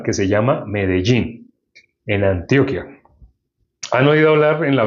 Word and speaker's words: Antioquia: Yo recibí la salvación en una ciudad que se llama Medellín, en Antioquia.